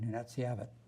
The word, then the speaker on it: Nunatsiavut: Under 18, I learned how to say it, Nunatsiavut.